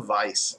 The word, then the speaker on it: Weisse: it was a a vice beer that was spelled w e i SS e supposed to be pronounced Vice like adal Vice I